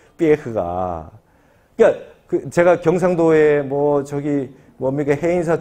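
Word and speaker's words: Pierre: 삐에흐. 프랑스 친구였어요. 내가 맨날 삐에르 했더니 삐에흐래. 삐에흐. 발음을 똑바로 하래요.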